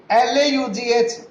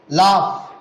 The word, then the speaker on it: laugh: as ta, row, whereas L-A-U-G-H is pronounced as laugh, laugh. See, all are ending with O-U-G-H, O-U-G-H, but the pronunciation is different.